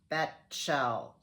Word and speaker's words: Bechtel: That's I pronounce her Betchel. Yeah, there my dyslexia comes out. So I turned the T and the CH, so it's Betchel.